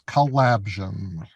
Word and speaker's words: Collabsion: It is Collabsion, like collaborative vision.